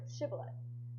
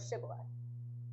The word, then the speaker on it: shibboleth: Basically, the Gileadites had the sound sh in their language, so the sh they could pronounce. However, the Ephraimites could not pronounce it. They would pronounce sh with an s sound, like sa.